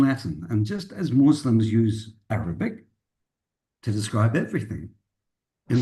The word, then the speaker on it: ius: And that word use is pronounced just like that, use.